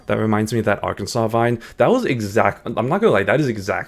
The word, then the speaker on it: Arkansas: You know, you have Kansas and then you have Arkansas, but it's spelled R Kansas, so it's like why is it not AR like our Kansas, but it's just like Yeah, I don't know.